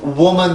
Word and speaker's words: woman: woman 발음을 할 때 나왔었는데 요 발음도 이 입술 모양이었었죠.